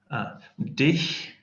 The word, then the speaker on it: dich: Dich is like ich, but with a D.